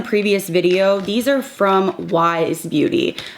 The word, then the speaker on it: YSE: These are from Wise Beauty. I kept saying YSE, but it's pronounced Wise.